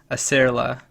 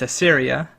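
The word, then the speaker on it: Aceria: use of an area Fayed might which I mispronounced as a Sarila the genus that is it's a Syria it's a Syria salsola and that's the name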